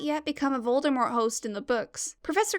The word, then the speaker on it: Voldemort: of harry potter's audiobooks appropriately pronounces voldemort with a silent t that t isn't silent